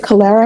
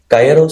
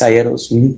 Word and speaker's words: Calleros: Oh, is it Calera? Calleros. See, I'm just adding extra syllables to your name. How do you pronounce it? Calleros, so C-A-L-L, like Calleros? Calleros.